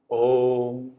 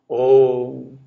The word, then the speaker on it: Om: This a, u, are the three syllables in the word Om. Akara and ukara becomes okara, okaram. Om. Om.